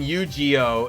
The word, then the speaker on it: Yu-Gi-Oh: Uh, the G in Yu-Gi-Oh is a hard G like gorilla, not a soft G like giraffe.